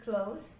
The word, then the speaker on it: clothes: para nós pronunciarmos, porque é só você falar close e colocar o sonzinho do Z no final.